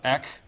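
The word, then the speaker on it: ἐκ: a little curve yeah just smooth breathing right on the front of eck right that eck and not no rough breathing of a smooth breathing so it's a pronunciation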